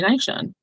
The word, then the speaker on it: Naashon: But, just, you know, family, friends, cousins growing up, everybody would just call me Nai-Shawn. Nai-Shawn, Nai-Shawn, Nai-Shawn. And again, I'm I'm used to that.